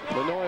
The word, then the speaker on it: Manoy: Manoy, of course, rhymes with annoy, which happens a lot to opposing coaches.